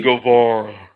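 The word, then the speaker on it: Guevara: Sammy Govara.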